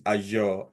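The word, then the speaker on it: Azure: get this one the the pronunciation is aure don't worry anyway so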